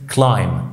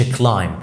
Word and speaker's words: climb: الكلمات في الانجليش اللي فيها ام بي زي مثلا كلمه climb، ما تقولش climb، دايما لو عندك ام مع بي البي ما بتتنطقش، فالام بتأثر على صوت البي ان احنا ما بننطقوش.